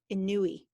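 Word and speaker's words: Inouye: did you remember that we said annoy annoy you could also pronounce it some people I think say in Nui a Nui he was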